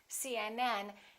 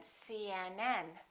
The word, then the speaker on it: CNN: PD the rule is we stress the last letter of an abbreviation for example CNN UCLA